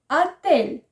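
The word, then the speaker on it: отель: Attel. Attel. Ici, faites attention, bien que c'est écrit hôtel, on prononce comme attel, parce que la lettre O, au début, se prononce souvent comme A.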